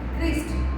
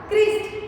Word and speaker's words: Christ: Christ. Christ. Christ. Begin with the CH word, but we pronounce Christ.